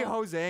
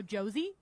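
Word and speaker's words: José: like our rewards program, and his name is Jose, and they go Josie, and I'm like, yeah, let's just roll with it.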